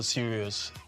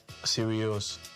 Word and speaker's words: Sirius: Be serious.